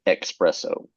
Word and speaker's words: espresso: There's no X in espresso.